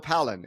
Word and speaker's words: Pollan: And Phil, you know, usually before I start recording, I ask you for the correct pronunciation of your last name, but I'm going to say Phil Palen.